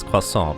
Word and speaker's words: croissant: Well, for me it's croissant because that's the word I learned in French class.